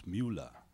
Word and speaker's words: Miula: It's called Miula, but actually it's a kind of a nickname because there was this soccer player called Müller, and he started saying, no, you pronounce Miula.